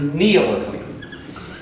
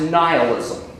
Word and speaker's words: nihilism: That word I want to drop is nihilism. By the way, you may also hear it pronounced nihilism. Both pronunciations are considered to be appropriate according to the American Heritage Dictionary.